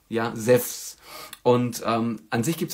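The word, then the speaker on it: Ζευς: im Deutschen entstanden, also ihn spricht man normalerweise auch Zeph aus, also Zephs, also in dem Fall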